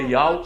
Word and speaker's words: YAUH: Ele vai mostrar que o tetagrama é pronunciado Ial.